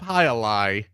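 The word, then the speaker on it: jai alai: no i don't look look up high a lie and you'll see the scoop and you'll go oh it's that uh-huh but it's spelled was it j-a-i yeah yeah and then a lie is a elder what is it a-l-a-i i believe a-l-a-i that's two words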